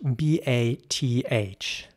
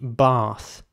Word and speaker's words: bath: would you say that now in British English similar to the word we just uh you know talked about it would be bath now again not everyone in England would pronounce it exactly like that some might say bath with more of an F sound at the end okay but that's you